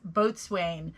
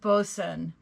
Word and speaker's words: boatswain: the right way because it looks like it is pronounced boatswain but it's actually pronounced bosun and so there were